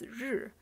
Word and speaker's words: 日: The top part means sun, and it's pronounced as 日, and it's actually how we are writing sun these days.